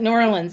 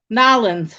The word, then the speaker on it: New Orleans: like my husbands like New Orleans I said no nin that's how you say it nin you don't say New Orleans it's nin baby yeah no that that